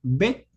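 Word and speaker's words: בּ: Entonces, esta consonante, como ustedes verán aquí, cuando tiene el punto en su interior, su pronunciación debe ser bet. y su equivalencia es una B de bueno.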